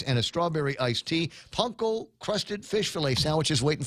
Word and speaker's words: panko: They've got the crispy panko fish fillet. And that's the way it's pronounced. It's called, if you call it panko, Japanese will laugh at you.